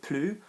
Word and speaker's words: plus: Plus de, pronounced differently, means more of something. And plus with an adjective is pronounced plus unless there's a vowel after it, an open mouth, in which case you will say plus.